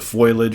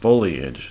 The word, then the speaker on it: foliage: always remarking that the foliage was getting in my way. Well, that's not how to pronounce the goddamn word. It's pronounced foliage, so I'm very sorry about that.